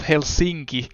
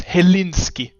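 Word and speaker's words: Helsinki: sightings in Finland and they pronounced hel sinki as helinski grade a um great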